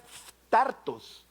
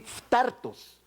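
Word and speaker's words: φθαρτός: esta carta del apóstol Pedro, la palabra es phtartos, así, phtartos. Y la pronunciación y la escritura, si quiere dejémosla por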